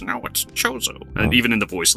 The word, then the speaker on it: Chozo: the kozo chozo joseph i always said kozo but apparently it's supposed to be chozo which bothers me a